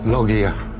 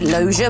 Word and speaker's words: loggia: entablature next clue worthless loggia we odd pronounce it Lozier but you've got the consonants right correct next clue words